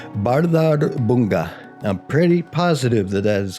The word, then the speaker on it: Bárðarbunga: Now, I'm only gonna try to attempt to pronounce this once, but this is a volcano in Iceland called Bárðarbunga. I'm pretty positive that is correct pronunciation.